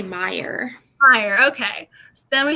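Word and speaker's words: Meier: sprouse's name mere m-e-i-e-r how do you say her last name who me yeah me or oh say it i would say meyer fire okay so then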